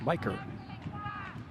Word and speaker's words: Micker: One of their top prospects, Miker Adolfo. Strike is called. Mispronounced by many an announcer of other teams. Micker, spelled M-I-C-K-E-R, but pronounced Miker.